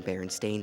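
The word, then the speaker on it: Berenstain: t e i n however instead of Steen the actual pronounciation is stain as in bar and stain Bears it's one thing for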